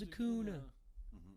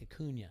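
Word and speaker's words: Acuña: you're never going to be as good as a cooner he's like a cunha it's pretty funny all right so we are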